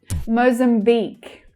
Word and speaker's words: Mozambique: So the first syllable, we have the O vowel sound. Mozam. Mozam. And the last syllable is the stressed syllable. It's louder and clearer. Mozambique. Mozambique. The long E vowel sound.